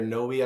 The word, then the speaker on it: Knowi: There's a new technology out there, a company called KnowI or Knowi. I don't know how you pronounce it. It's Knowi. And it allows the interpreter the ability to self-evaluate their skills.